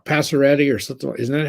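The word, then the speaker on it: Pacioretty: And Max, how do you pronounce it? Passaretti or something? Isn't that how you say it? Passaretti, yeah.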